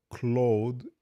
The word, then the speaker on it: Claude: Clos claude code security just so you know clothe is the pronunciation in French so clothe code code claude code that's a little weird what's What happened?